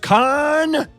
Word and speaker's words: Khan: talking about khan and yes it's pronounced khan he originally appeared on